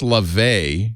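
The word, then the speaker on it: Laufey: tick-tock here it is i see it now pronounced la vay so go down no fine so which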